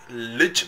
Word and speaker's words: Lij: So it's not Lil, sorry, Lich Michael.